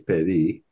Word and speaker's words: pedí: Okay, one thing is pedí, so the accent is on the last pedí, and it's not me, it's what?